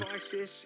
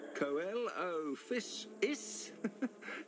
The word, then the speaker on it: Coelophysis: I think I constantly called it like it's like Coelophysis or something like that because it was like how I called coelacanth coelacanthus. Like the first 4 letters I pronounce it as coal instead of seal.